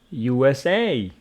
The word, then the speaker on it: USA: And USA, USA. Abbreviations carry their stress on their final syllable.